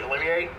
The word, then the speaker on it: Olivier: The first person I'd like to introduce is Jeffrey Olivier. The R is pronounced, he tells me.